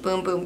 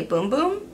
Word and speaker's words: Bum Bum: a brazilian company so even though it's b-u-m-b-u-m in brazil i guess they say boom boom but here we all